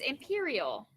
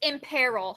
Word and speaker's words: imperil: thank you all right this word is imperial i think that's how you pronounce it first off there's some lovely people saluting this picture may be a little bit helpful um let me double check and make sure i'm pronouncing the word right raise your hand oh it's imperil sorry it is imperil and this is a